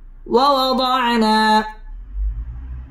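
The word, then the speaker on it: وَوَضَعْنَا: وزرك ووضعنا عنك وزرك ওয়াও ঠোঁট গোল করে উচ্চারণ করতে হবে ওয়াওয়াদানা মধ্যে তাবাই একালিফ টেনে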